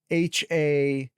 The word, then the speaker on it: Haddad: And Cody Haddad. That's how I'm going to attempt to pronounce that. Haddad. Yeah. The kid out of St. Ignatius. That is correct, sir.